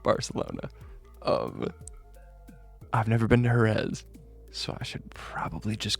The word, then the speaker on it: Jerez: to pronounce that, because I know properly pronounced it's Jerez, but I also know that there isn't another one of those lispy sounds that I allow the Spanish from where I stand, okay?